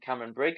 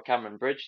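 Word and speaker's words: Cameronbridge: whiskey um was a Cameron Cameron Brigg or a Cameron Bridge depending on how you say it and so that comes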